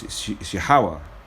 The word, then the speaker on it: Yahawah: you but you know you got the name wrong it's yahawa you know what it is there's no J so the J should be a y which says yah and yah means he